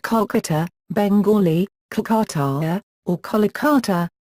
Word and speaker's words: Kolkata: 2001 when it was changed to Kolkata in order to match Bengali pronunciation history the discovery and